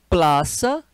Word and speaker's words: Plaza: muitas árvores chama Parque Plaza escreve com z mas a pronúncia é de S né o Z em